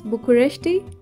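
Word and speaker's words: București: People it capitalizing the city of Bucharest pronounced as bukureshti I hope I'm right I came across some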